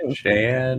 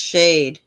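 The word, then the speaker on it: Shaed: Shade is an American indie pop trio based in Washington DC. It's pronounced shade. Shade.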